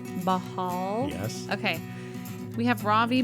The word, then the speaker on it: Bahal: how do you say your last name Robie bahal bahal yes okay we have Robie bahal on the